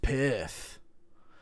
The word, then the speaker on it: Perth: You say perf like a guy with a lisp says piss. Perth. It's pronounced Perth.